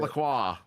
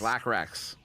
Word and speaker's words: Blackracks: Oh gosh, it what is not Lacroix. It is is Blackracks.